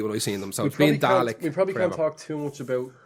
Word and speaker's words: Dalek: he called them garlic everybody calls him garlic its Dalek as how it's pronounced right let's just before